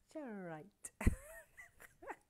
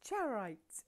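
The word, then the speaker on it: charoite: and we have the generite. I say it on purpose wrong because I can't say it properly. It's charite.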